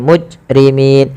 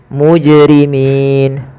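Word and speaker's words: مجرمين: Bacaan qalqalah adalah bacaan yang dia harus memantul. Kesalahan yang terjadi di dalam membaca qalqalah itu tidak memantulkannya. Contoh bil mujrimin harusnya bil muj muj mujrimin.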